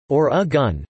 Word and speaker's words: Oregon: according to the Oregon Tourism Commission present-day Oregonians pronounced the state's nameís or a gun never re gone after being drafted by the